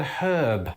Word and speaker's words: herb: example is the word herb. To us Brits, hearing Americans drop the H on the word herb can often feel weird. But here's the thing, back in the day, we used to do it.